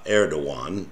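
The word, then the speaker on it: Erdoğan: power is held uh Eran which people is spelled Eragon um and this party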